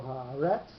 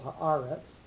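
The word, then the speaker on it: הָאָרֶץ: So when that is not the syllable that gets the accent, we get a second pashta going on the accented syllable. So the one on the tzadi sofit would normally be where the pashta would rest, but it's not kol haaretz, it's kol haaretz.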